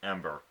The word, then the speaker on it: Ember: always think of okay how to say her name is think of did the month December and then just take up the dis and just say Ember I need to work